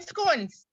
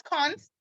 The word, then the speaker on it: scones: making scones it's going some people says cons i had a lecturer he says cons so scoring's cons as long as you can spell it it's s-c-o-n-e-s you can call it scones or cons whichever one you choose